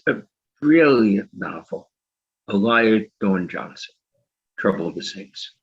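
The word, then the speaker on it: Alaya: So okay, a remarkable book by Elia Dorn Johnson. Elia rhymes with papaya, she says on her website.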